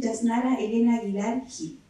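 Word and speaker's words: Yásnaya Elena Aguilar Gil: Desde el Camapu, a la Lamien Yasnara Elena Aguilar Gil. Así se pronuncia, ¿cierto?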